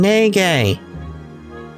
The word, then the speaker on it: Neige: Oh, Neige. Guess my secret's out. Even I have to train sometimes. Oh, that's how you say her name, Nege.